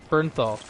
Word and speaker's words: Bernthal: Bernthal.